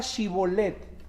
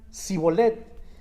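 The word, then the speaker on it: שיבולת: A ver, entonces di la palabra Shibolet. Pero ellos decían Sibolet.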